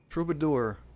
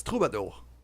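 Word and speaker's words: troubadour: So yeah, that's the thing with a trouidor is kind of um Why the hell am I pronouncing it that way? It's troubador, which is often the uh French word used for bard.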